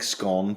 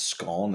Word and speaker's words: scone: I'm I'm not a big scone person and it's it's scone. It's not scone.